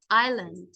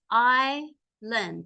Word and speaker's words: island: Greenland is the largest island so Greenland is the largest island the S is silent Island we all think